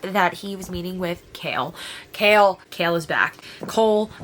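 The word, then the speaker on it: Chaol: the very first book I want to call him Cole his name is apparently kale I looked up the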